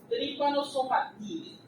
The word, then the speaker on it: Trypanosomatidae: Vean que está idae, pero la pronunciación correcta es ide.